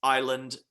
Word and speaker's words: Iland: out like that but there's no s in my last name Island com4 come